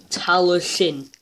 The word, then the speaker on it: Talyllyn: You're meant to be saying talyllyn. Talyllyn. Don't know tar. It's tal with a Y. The Y is a sound. Tal and the is like Donald Duck.